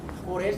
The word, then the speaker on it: Forel: Forel se escribe F-O-R-E-L, Forel.